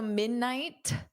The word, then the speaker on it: midnight: So, I generally don't push out that T. Midnight night. So, I put my tongue in the position midnight, but then I just don't go t because then it produces a t.